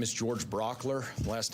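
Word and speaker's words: Brauchler: My name is George Brockler. Last name is spelled B-R-A-U-C-H-L-E-R.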